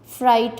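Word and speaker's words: fright: राइट में जी, लाइट में जी, फ्राइट में जी। ये सारे वर्ड्स हैं जो कि साइलेंट हैं और इनकी हम प्रोनाउंस नहीं करते during pronunciation of these words.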